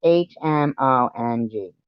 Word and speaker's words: Hmong: It's Hmong. Okay? There's no way I can't even pronounce these things.